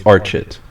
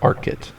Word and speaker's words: Archet: from that c apparently it's archit not arit I've pronounced it arit like the past seven years that I've have had